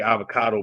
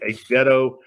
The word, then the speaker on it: Azevedo: I want to say avocado, but that is not how you say it. Azevedo.